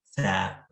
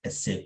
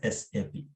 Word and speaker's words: SAP: Usually many people call it as SAP, like that, right?